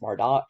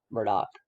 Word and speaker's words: Murdaugh: their name all wrong i've already pronounced mardoch and mardo so i've been pronouncing it phonetically now that i heard alex say it i will try to remember to pronounce it murdock carolina supreme court suspended